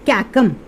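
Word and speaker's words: caecum: ठीक है, इसको क्या प्रोनाउंस करते हैं, कैकम।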